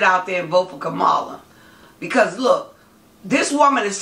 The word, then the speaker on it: Kamala: behalf of, I don't want to say her name wrong. Kamala Harris. Just remember Kamala.